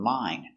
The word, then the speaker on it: mine: to practice more so if you have one syllable word like mine sound is always I a long I sound mine but when you have